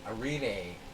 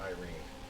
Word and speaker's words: Irene: from Irene I I I don't know how they pronounce it in Israel I mean in Brazil uh a Renee a Renee not Irene I always want to